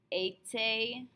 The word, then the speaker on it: été: All of these are pronounced A. So for example, if I use that E accent aigu T, that beginning of être, A, I'd say été, été, été.